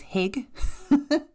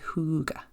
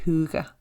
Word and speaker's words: hygge: forward to pronouncing it it is spelled h y g g e so in my head for long time it was Hig it's a Scandinavian word it is Huga I may be pronouncing that terribly I apologize but I